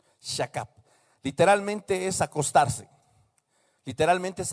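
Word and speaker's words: שכב: Así como se escribe, shakab.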